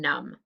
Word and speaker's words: numb: to check your answers it should be mb for plumber just an m for stomach m n for column and m b for num okay erase and get